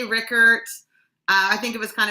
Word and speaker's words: Rueckert: So actually, I think you're probably really close to the German pronunciation, but we actually say Rueckert, which has the vowel of that I sound is not even in there.